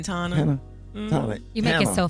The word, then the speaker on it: Tana: I keep saying it's Tana. Tana. Like I keep Montana without the mon. Got it now. Montana. I always what I been saying, Tana. You be saying Tana.